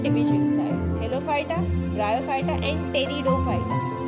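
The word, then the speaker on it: Pteridophyta: अब क्रिप्टोगैमे के अंदर 3 डिविजन्स आए, थैलोफाइटा, ब्रायोफाइटा एंड टेरिडोफाइटा। इट्स टेरिडो, P silent होता है, ठीक है।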